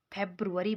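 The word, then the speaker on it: February: हम लोगों को यह है कि फरवरी को फ़ेब्रुअरी बोलते हैं ठीक है मास्को मार्च ही बोलते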